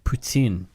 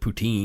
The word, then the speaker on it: poutine: the things correctly and I will even say it for you this once ptin whoa my I know how to pronounce the word but I'm an Englishman and I pronounce it poutine yeah yeah yeah I'm